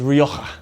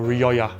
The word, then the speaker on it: Rioja: the proper way to say is rioja it's like you're trying to clear your throat wallace calls it ryokka